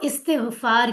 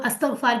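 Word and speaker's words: استغفار: सबसे पहला पॉइंट कि मुझसे ऑफकोर्स मैं और आप हम सबको इस्तगफार की जरूरत है। कई लोग अस्तकफार कहते हैं गलत है प्रोनाउंसिएशन। इस्तेगफार होता है। याद रखें।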